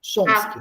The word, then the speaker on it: Chomsky: Chomsky é a pronúncia, tá? Chomsky.